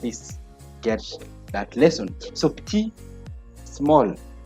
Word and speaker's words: petit: Petit, petite. Okay, T, we don't pronounce the T, but now because of this E here, which is now a feminine one, it's going to be petit, petite.